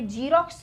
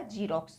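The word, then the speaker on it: Xerox: ये जीरोक्स नहीं है।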